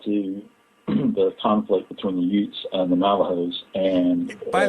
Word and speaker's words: Ute: And by the way, I want you to explain the name of that Indian again, because people listen to that and they think you're from Brooklyn. You're talking about Utes. I'm serious. Ute is spelled U-T-E.